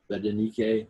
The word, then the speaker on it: Berenike: How do you pronounce that? Berenike?